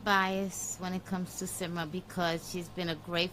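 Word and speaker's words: Symra: How do you pronounce her name? Simra.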